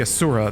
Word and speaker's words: Asura: case I should say Asura that's how they pronounce it in the game Asura's Wrath seemed like